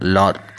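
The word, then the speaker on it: Laugharne: His home was now a small seaside village of Lorraine, pronounced Lor, and the River Towry.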